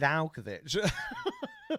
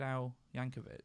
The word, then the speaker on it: Yankovic: But I mean, you could chuck in like Weird Alkovich. Weird Alkovich. Did I say his name wrong? Isn't it Weird Al Yankovic? That's it.